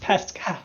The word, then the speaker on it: Pasquale: He spells it that way, Pasquale. but it's pronounced Pascal.